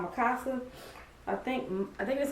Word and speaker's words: Mikasa: And this is like how you pronounce or how you spell the name. It's Mikasa. Yeah, Mikasa.